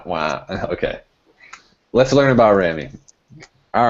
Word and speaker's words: Rami: Let's learn about Rami. All right. Mr. Abraham. I guess the biggest thing is the pronunciation actually rhymes with the last two syllables of pastrami.